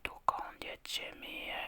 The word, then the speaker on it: Dokąd jedziemy: Dokąd jedziemy? Dokąd jedziemy?